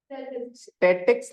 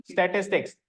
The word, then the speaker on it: statistics: स्टैटिक्स नहीं, stay बोलो, stay बोलो, टेक्स बोलो अब एक साथ, स्टैटिस्टिक्स।